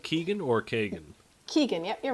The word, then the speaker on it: Keagan: Did I pronounce that right? Keagan or Kagan? Keagan, yep, you're right.